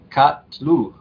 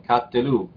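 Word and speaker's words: קָטְלוּ: Tenemos aquí Katlu, o Katelu, perdón, Katelu, esto sí se dice.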